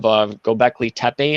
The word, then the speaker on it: Göbekli Tepe: Some people think that it's the stone structure of Göbekli Tepe, I think is how it's pronounced, big T-shaped rocks, and that it was intentionally buried to try to bury these secrets.